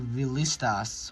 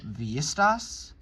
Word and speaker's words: Villistas: lost a lot of territory to Villistas, or Villistas? I know that Spanish-speaking countries don't pronounce the double L.